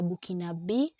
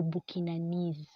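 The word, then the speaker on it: Burkinabè: A person coming from Burkina Faso is a Burkinabe or Burkinanese.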